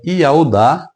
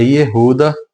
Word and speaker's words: Judá: religiosos não saibam, mas a pronúncia original do nome de Judá é Iaudá. E se você remover o d pronúncia Iaudá, você chegará à pronúncia Iauá. Entretanto, no hebraico moderno, a pronúncia é Iruda ou Irudá.